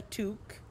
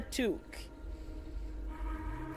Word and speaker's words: toque: No, a beanie is not a toque. It's not the same. Full of a toque. Exactly. It's pronounced exactly the same, King. Like, except it's written T-O-Q-U-E.